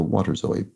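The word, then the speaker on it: waterzooi: and cream very tasty the ooi is pronounced as always and boy so water Zoe presumably and there we have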